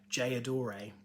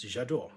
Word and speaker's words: J'adore: love for this fragrance which they referred to as jayadore um which i think is absolutely not how you say it it's je d'or but i like that